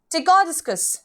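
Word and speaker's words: Ptychodiscus: ठीक है, इट इज टिकोडिस्कस. ठीक है, टिकोडिस्कस डायरेक्टली प्रोनाउंस करना है हम लोग को, पी नहीं बोलना है, सिर्फ टिकोडिस्कस.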